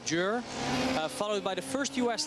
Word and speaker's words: Győr: We got some comments about pronouncing it like Győr, but it's apparently something like Győr.